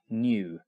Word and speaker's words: nu: Well, it's E= H new. That curly V is pronounced new NU and it means frequency.